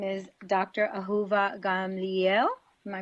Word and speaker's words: Ahuva Gamliel: Ahuva Gamliel. Am I pronouncing that correctly? Yes, that's great. Yes, that's close enough. Well, you say it. Let's see how you would say it. Dr. Ahuva Gamliel.